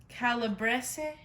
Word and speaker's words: calabrese: two rows right there then we got some calabrese is how you pronounce it salami and then we've got some